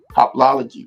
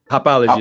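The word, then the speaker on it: hoplology: How do you pronounce it, Professor? Hopology, right? Hopology, exactly.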